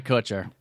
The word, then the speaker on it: Kutcher: long relationships with ashton kutcher um who met on that movie uh just married couture ashton kutcher isn't it that's definitely kutcher i i thought it was coocher okay the cooch mark